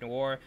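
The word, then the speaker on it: Noire: Yeah, Noir.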